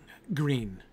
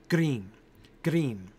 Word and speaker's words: green: So you can roll your R and say green, right? And then you really play the R, right? But you can just flip it and say green, green. It's almost like the D.